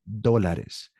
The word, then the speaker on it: dólares: That's how you pronounce that. Dólares.